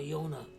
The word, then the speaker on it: Jona: of his great-grandfather Jonah Jonah in German and other languages the J is pronounced like a y so in in public school in Germany he was called Yona but in yish he